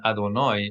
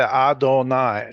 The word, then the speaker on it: Adonai: This I suffix in Adonai is technically a plural possessive, my plural something. But we've made it different from the plural possessive by pronouncing it as oi instead of I.